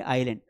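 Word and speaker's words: island: इसको आइसलैंड नहीं पढ़ते हैं बेटा। यहां पर ये एस साइलेंट है। है ना? इसे पढ़ेंगे आइसलैंड। क्या बोलेंगे? आइलैंड।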